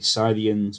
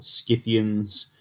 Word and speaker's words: Scythians: about the scythians today the sardians or scythians depending on how you want to pronounce that they're a proto-european um